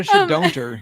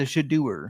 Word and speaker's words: Shedeur: He's not a shedonter. He's a Shedeur.